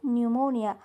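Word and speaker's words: pneumonia: आहे कसं वाचणार तुम्ही इथे न्यूमोनिया न्यूमोनिया नाही न्यूमोनिया म्हणजेच इथे पी दिसतोय पण त्याचा उच्चार होत नाही इथे पी सायलेट आहे सेकंड शब्द आहे सेकंड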